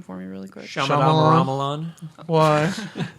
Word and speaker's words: Shyamalan: Shyamalan. Why? How did you think I was going to say it? No, because in my head I always say it like Shamalabla. Shyamalan.